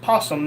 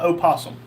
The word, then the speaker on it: opossum: Oslander said it's pronounced possum, not opossum.